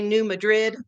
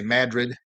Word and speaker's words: New Madrid: People that aren't from here I hear them say New Madrid, but the people that are locals say Madrid.